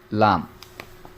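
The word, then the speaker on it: لام: লামের উচ্চারণটা হচ্ছে আলিফের সম্পূর্ণ বিপরীত। আলিফ বলার সময় তাড়াতাড়ি উচ্চারণ করতে হবে, আর দুই ঠোঁট লাগবে না, লম্বাও হবে না, লম্বাও হবে না, দুই ঠোঁট লাগবে না। আর লামটা হচ্ছে আলিফের সম্পূর্ণ বিপরীত, দুই ঠোঁট লাগবে, লম্বাও হবে।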